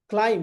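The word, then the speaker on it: climb: इन the fourth word क्लाइम। B silent रहेगा।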